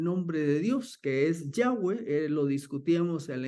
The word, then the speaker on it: Yahweh: buena traducción que la la mejor manera de pronunciar el tétarama era Yahweh Así que nuestra versión 60 tiene todavía Jehová pero lo más cercano es Yahweh bueno por los judíos